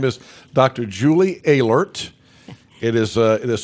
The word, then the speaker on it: Oehlerst: Julie alert it is it is spelled le ort but it's pronounced alerts and dr.